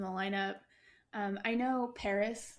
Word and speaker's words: PVRIS: lineup um I know Paris spelled pvris is new I love